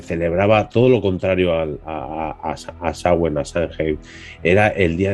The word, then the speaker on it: Samhain: Samhain, que debemos, si lo pronunciamos en gaélico, es algo así como Samhain, o sea que no se parece en nada, pero bueno, una cosita que he aprendido recientemente.